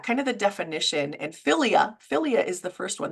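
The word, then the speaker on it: philia: start with that kind of the definition and filia filia is the first one that's p h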